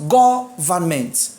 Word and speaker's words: government: My stress is on the first syllable, which is go. So whether I add ment to govern or not, it is what? Go. So it is what? Government.